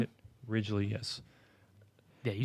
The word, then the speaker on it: Ridgely: Ridgely, yes.